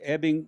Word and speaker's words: Ebbing: You've got Sam Rockwell for Three Billboards Outside Ebbing, Missouri. That's the way it's pronounced, at least by Frances McDormand.